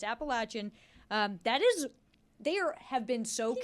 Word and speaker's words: Appalachian: Big thing, Appalachian. That's how it's pronounced. I heard it Appalachian the other day.